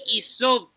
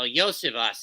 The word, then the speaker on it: Iosivas: Andre Isoviev. You want to say that name again? Andre Iosivas. Oh, Yosivas is how it's pronounced.